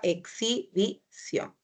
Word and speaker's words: exhibición: Es exi, la X se va a la siguiente sílaba, exhibición. Entonces, por eso es que la respuesta correcta es Ana.